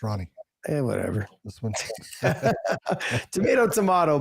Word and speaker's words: Ronnie: Next fight we got here is Cody Garbrand versus uh how do you say his first name? Barcelos. Ronnie. Ronnie. Honey. Honey. No, it's Ronnie.